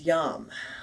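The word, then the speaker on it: yam: open and receptive and the bija mantra the single syllable mantra for your heart chakra is yum y am i like to remember it the why the why in yom like the y in yes so saying yes to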